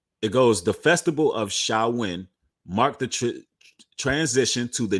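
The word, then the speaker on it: Samhain: it wrong it's spelled shame hang but it's pronounced salwin all right so when the tradition it goes the Festival of xiaowin Mark the transition to the new year at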